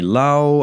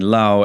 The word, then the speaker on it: Laos: this I'll be saying Lao as in patet Lao uh but uh La is not wrong it's just sort of the English pronunciation of of the laan